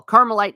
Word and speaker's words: Carmelite: No, caramel. C A R M L. Carmelite nuns.